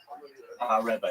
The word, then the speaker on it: Rabbi: How is your name pronounced? Like Ravi or Rabbi? Rabbi.